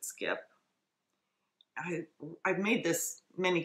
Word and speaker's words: Skyp: by Adrienne ku and skipper spelled SK YP she pronounces it skip i I've made this